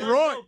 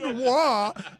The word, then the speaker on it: Roy: I love that Stugatz joke because it's not pronounced Patrick Roy. What? Like you were Chris said wah.